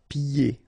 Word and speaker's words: pieds: So final S here and then final S here is not pronounced. And then when you get this combination here, it's ye. Pieds. Okay, so you don't hear the D.